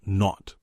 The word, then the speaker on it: naught: The zero in the telephone number he pronounced not the number was 2B02B.